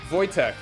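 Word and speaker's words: Wojtek: have to have in a second so yeah vojtek that's how it's pronounced a Syrian brown bear as a young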